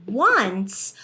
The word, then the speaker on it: once: It's pronounced as two sounds, the W and the U, and then it goes into the N, rather than being the long O sound.